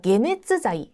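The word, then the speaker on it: 解熱剤: 자이 표현 중요한 표현인데 해열제의 해라고 하는 단어가 일반적으로는 카이 예를 들어서 정답이라고 할 때 세카이 이렇게 카이로 많이 읽는데 해열제의 때 유독 계라고 읽습니다 주의하시고요 자 게네스 자이 해열 입니다 그래서 열이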